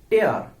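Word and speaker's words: tear: verb হিসাবে ব্যবহার করবেন তখন আপনাকে উচ্চারণ করতে হবে টেয়ার টেয়ার মানে ছিড়ে ফেলা আবার যখন আপনি উচ্চারণ করবেন হচ্ছে টিয়ার তখন সেটা নাউন হবে অথবা আপনি যখন বাক্যে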